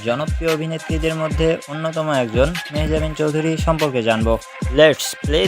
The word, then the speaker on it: মেহজাবীন: তো বন্ধুরা, প্রথমেই মেহজাবিন চৌধুরীর বেসিক ইনফরমেশনগুলো জেনে নেওয়া যাক। তার নাম মেহজাবি চৌধুরী। জি বন্ধুরা, তোমরা সবাই হয়তোবা জানো যে তার নাম মেহজাবিন চৌধুরী, কিন্তু তার নামের শেষে এন উচ্চারণটা হবে না।